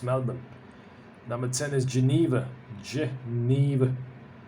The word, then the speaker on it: Melbourne: Melbourne, number 9 is Melbourne. Let's remove the R. Now it's a bit easier to pronounce. Melbourne.